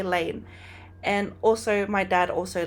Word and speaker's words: Lane: insight whatever of why my last name is Lane cuz I've had so many people ask me like, "Why is your last name Lane?